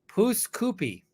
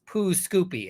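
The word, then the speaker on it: Pouce Coupe: of the town he lived in it's called pooskoopy now you may think that that means poo Scoopy and that's not how that's it's actually poos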